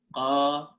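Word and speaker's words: قَوِيٌّ: That is the noun qawiyun. You have to pronounce two fatha, two yas here.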